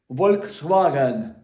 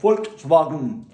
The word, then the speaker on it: Volkswagen: дехто кажуть, е-е, читають букву В на Volkswagen і читають Volkswagen. Нема такого. Є Volkswagen.